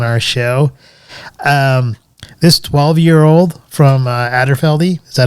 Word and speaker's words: Aberfeldy: This 12-year-old from Aberfeldy, is that how you pronounce it? Aberfeldy, yeah.